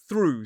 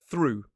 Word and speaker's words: through: Again, it is through. So, this time the o u g h is pronounced oo, the same sound we see in a word like blue, true, and another pronunciation